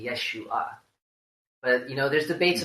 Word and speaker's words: Yeshua: gonna happen Jesus's name his name is not actually Jesus according to the that he break my tear election nice the official mothers of tongue reading of how you pronounce his name it's actually Yeshua but you know there's